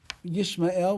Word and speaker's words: Yishmael: So he says, if you look at the name Yishmael, so we pronounce it Yishmael, which is just like Yisrael, but those two dots are not under the aleph in his name, which is God's name.